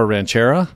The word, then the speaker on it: Ranchera: It's the Agua Ranchera. Okay. Which I got scolded on how to pronounce it. Uh, I said Ranchero and it with an A.